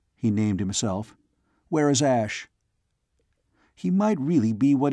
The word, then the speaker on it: Ash: "Ash!" Not Asha, but Ash. Ross, though sure of that pronunciation, was still cautious.